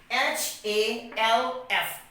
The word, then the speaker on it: half: l m found now another example we have h a l f half see here you can see that as